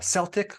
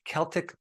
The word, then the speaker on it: Celtic: Today, we're going to talk about Himalayan sea salt, Celtic, or you might pronounce it Celtic sea salt, and other types of sea salt.